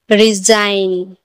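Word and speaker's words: resign: फॉरेन, FOREIGN, फॉरेन, एन से पहले जी है तो यहाँ पर भी जी साइलेंट है। रिजाइन, रिजाइन ने भी एन से पहले जी है तो रिजाइन ने भी जी साइलेंट है।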